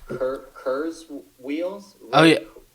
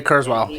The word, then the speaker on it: Kurzweil: I'm not gonna spell his name properly um pronounce the name property but it's curs Wheels yeah Ray Kurzweil yeah he's uh for a guy uh he's